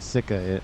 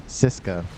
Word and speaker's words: Cisa: proa as well sisa I saying Sika on it's cisa apologies for the mispronunciation there looks like ttpd and